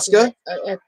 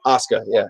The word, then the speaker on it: Asuka: Wait, Asuka, I think I might have Asuka? Asuka? Asuka, yeah, that's how you say it.